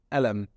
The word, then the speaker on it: قلم: That's in the modern standard Arabic, but in the Egyptian dialect, I won't say qalam, because as you all know that in the Egyptian dialect, we pronounce the qaf as as a hamza. So I won't say qalam, I will say alam, alami, my pen, alamak.